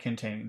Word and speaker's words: containing: Let's Let's add containing this very book. Containing. Which syllable has all of the sounding? Containing. Tain. Tain. Yes. So, it's that second syllable. Tain. Second syllable.